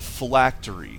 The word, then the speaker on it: phylactery: Now, as I was saying, in Dungeons and Dragons, the Lich would have an item called a phylactery. I believe that's how it's pronounced, although you've seen that my pronunciation is suspect on words that I've only read.